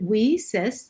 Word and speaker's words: WiCyS: and we pronounce it we cis like we sisters because that's exactly what we are we are a cyber